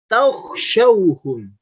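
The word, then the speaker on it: تخشوهم: Kemudian huruf kha. Takhshawhum. Takhshawhum. Bukan takh. Simak lagi cara bacanya, bukan takh, tapi takh. Perhatikan mulutnya. Takhshawhum.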